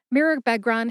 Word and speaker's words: Mirabegron: Mirabegron has 4 syllables. That's mir, like a mirror, which is a short A sound or a schwa A sound, Beg, like a dog begs for a treat, and Ron, like Harry Potter's buddy Ron Weasley in the Harry Potter series of books.